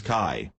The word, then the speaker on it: qi: The qi, pronounced as kai, is a difficult word to understand and is usually left as it is, without translation.